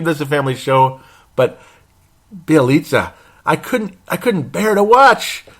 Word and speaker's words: Bjelica: Now that I could finally say it right, Bjelica. 22 minutes in the game. The whole fourth quarter, the guy played like shit. Pardon my French, because I try to keep this a family show, but Bjelica, I couldn't bear to watch.